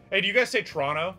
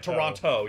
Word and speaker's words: Toronto: right thank you oh if you pronounce the second T it's a dead giveaway that you aren't from here yeah Toronto yeah yeah it's Toronto um but we're not